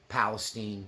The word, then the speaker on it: Palestine: conflict just between uh Palestine Palestine in Texas we call them Palestine not Palestine CU there's a Palestine Texas spelled the same so forgive me if